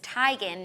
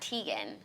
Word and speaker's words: Teigen: long time ago but her last name is Tigan not Teigen oh it really it